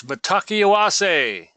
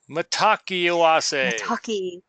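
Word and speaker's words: Mitákuye Oyás'iŋ: It is a wonderful word, expression by the Sioux Indian, but it's it kind of hard to pronounce, but it's Matakiawase. Matakiawase. Yeah. Matakiawase.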